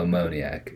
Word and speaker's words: ammoniac: to pronounce that right so you're supposed to have it at the front so uh ammoniac okay yeah that's correct ammoniac it's a word